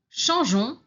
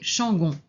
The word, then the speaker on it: changeons: Change, changeons, changer. Alors ici, on ajoute le E après le G pour ne pas prononcer changon.